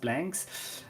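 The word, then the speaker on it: Blankz: Uh there's the Z at in the end because that's the team called Blanks. Uh they they have a capital Z, but it's pronounced blanks.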